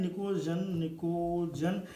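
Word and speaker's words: pnictogen: से निकोजन कहते हैं, निकोजन। एक बार फिर अंग्रेजी थोड़ा सा शर्मिंदा होती हुई यहाँ पर, पी साइलेंट है, निकोजन बोलते हैं इसको, बट पी यहाँ पर साइलेंट है, जैसे चालकोजन का कुछ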